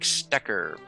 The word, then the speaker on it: Stecher: So Patrick, you were saying that it's pronounced Stecher. So is that Scottish? German. Oh, German, really?